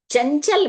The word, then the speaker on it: चंचल: है यहां पर बच्चों यह बात आप याद रखिएगा कि कंघा में क वर्ग का जो पंचम अक्षर है उसका साउंड आएगा और चंचल में जो च वर्ग का पंचम अक्षर है उसकी ध्वनि उच्चारण के समय आपको ध्यान रखनी है।